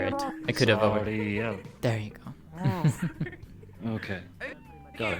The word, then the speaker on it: Sariel: Said it with no L at the end. At least I did not hear it. I could have over. Sariel.